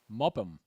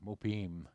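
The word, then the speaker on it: Muppim: The sons of Benjamin, Bala, Baker, Ashbell, Gara, Name, Ahei, Rosh, Mopam, Hoopam, and probably pronounced with more of an e, you know, mupim and hoopim and ard.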